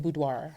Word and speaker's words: Boudoir: That's Erotic Boudoir's message. And that can mean a host of different things. So say that again, Erotic what? Erotic Boudoir.